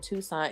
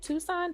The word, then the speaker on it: Tucson: what's up or tuck tucks in I said Tucson is that how you pronounce it Tucson Tucson am I saying it right um I